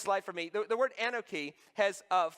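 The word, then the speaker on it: אנכי: The word Anoki has 4 letters in Hebrew, A-N-C-H-M-Y. The O really isn't there. It just helps us pronounce it, okay?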